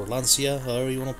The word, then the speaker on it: Lancia: have a whole lot here we have this lunch hour or Lancia however you want to pronounce that in Italy it's pronounced lunch ax and then we have this Opel over here